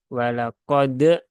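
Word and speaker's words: وَلَقَدْ: Dan kolkolahnya tidak perlu berlebihan sampai tadi ya ada tambahan hamzah di belakang walaqad. Nah, itu tidak diperlukan sampai seperti itu. Jadi cukup disentuhkan saja walaqad qad so ya.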